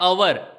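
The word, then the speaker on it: hour: pronounce देखना है तो इसका प्रोनाउंस होता है अवर यहां ध्यान रखना दोस्तों इसको ह नहीं बोलते इसको अवर कहा जाता है बोलते वक्त एच साइलेंट रहता है तो अवर की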